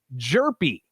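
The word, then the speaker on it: Hjerpe: their first two picks uh they selected cooper jerpi is how it's pronounced everybody it's spelled h-j-e-r-p-e we know what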